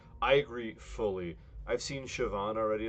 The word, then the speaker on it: Siobhan: It's pronounced Siobhan, like with a V.